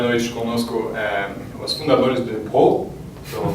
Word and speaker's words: Broou: ter hoje à noite conosco os fundadores do Pro, estou pronunciando certo?